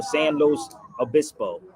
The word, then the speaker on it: San Luis Obispo: San Luis Obispo. Did I say it right, Jaquetta? Hey, Jaquetta, did I say it right? San Los. Oh, San Luis Obispo.